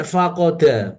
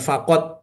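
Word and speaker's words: فقد: Fain faqod. Ya bacanya bukan faqad fa maka qod sungguh bukan faqoda itu artinya hilang atau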